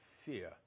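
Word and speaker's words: Fehr: fare in there and his name was pronounced fair for many years and then he decided he wanted to pronounce fear and so you have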